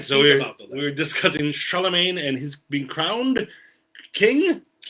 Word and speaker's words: Charlemagne: Charlemagne Magna. Magna. We pronounce it Charlemagne. I believe the French is Charlemagne. Charlemagne. Yes, French. The French, as usual, add multiple letters that you just ignore all those letters.